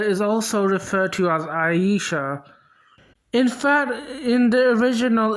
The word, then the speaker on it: Aisha: There's Aisha and there's Ayesha. The AI spelling is supposed to be pronounced as Aisha, whereas the AYE spelling is supposed to be pronounced as Ayesha.